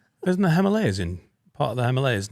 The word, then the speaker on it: Himalayas: You said Himalayas. You said like the bottom of your jeans like the hem. But it's the he Himalayas.